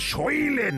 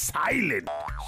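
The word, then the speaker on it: silent: কতবার বলেছি যে ওটা সইলেন নয় সাইলেন্ট সেই ভুল সোধরাবে দাড়াও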